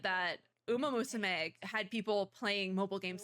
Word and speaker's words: Uma Musume: That was a pronunciation. Okay. It's Uma Musume.